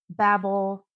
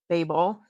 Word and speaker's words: Babel: I have read the first book in the Poppy War series, Yellow Face and Babel or Babel, depending on um where you're from.